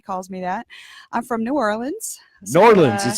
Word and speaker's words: New Orleans: I'm from New Orleans. New Orleans is how it's New pronounced.